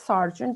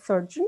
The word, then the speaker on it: sergeant: of the arms today so sergeant is spoken as sergeant you said surgeon so you probably want